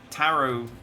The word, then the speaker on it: tarot: And the one I only just learnt quite recently is that tarot, you don't pronounce the T in tarot cards.